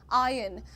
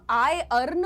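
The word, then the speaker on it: iron: आयन अब ये कहना चाह रहे हैं कि आर को दबाकर बोलो। ठीक है? तुम आई अर्न मत बोलो।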